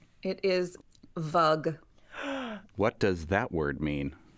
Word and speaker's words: vug: Vug. Vug. Yeah. How do you yeah. spell that? Is it V-U-G like bug? Yeah.